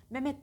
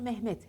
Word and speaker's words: Mehmet: hayata geçireceksiniz ki öğrenebilirsiniz Mehmet derler doğrusu Mehmet Hey yutmadan mühendis mühendis yerlere açık